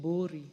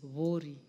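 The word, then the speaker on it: Buuri: Some people would like to call it Bori, but it is Vori. That's the correct pronunciation, Madam Speaker.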